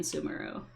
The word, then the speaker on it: Sumeru: This one's all the way practically in Sumeru. Also, I know they pronounce it Sumeru in English. I refuse. It's Sumeru. I don't know why, I just don't like saying Sumeru.